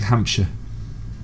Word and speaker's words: Hampshire: It's like Hampshire.